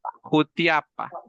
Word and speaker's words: Jutiapa: Recordemos que también los españoles no podían pronunciar es la SH y se convirtió en J. Entonces ahora decimos Jutiapa. ¿Sí? Jutiapa decimos ahora.